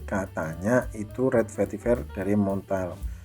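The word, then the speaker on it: Montale: itu red vetiver dari Montel muntal Kalau bahasa Indonesia muntal ya tapi kalau bahasa Perancis Gimana bacanya montol.men Hai share Paris mirip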